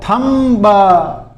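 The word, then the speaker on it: thumb: और वह शब्द क्या है यह देखो अभी सबसे पहले देखो थंब पीछे बी आ रहा है। स्पेलिंग देखो टी एच यू एम बी थंब लेकिन इसके बी साइलेंट रहता है।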